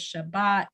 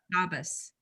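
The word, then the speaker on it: שַׁבָּת: The Sephardic pronunciation for Shabbat is Shabbat, and for in the Ashkenazic pronunciation, it's Shabbos.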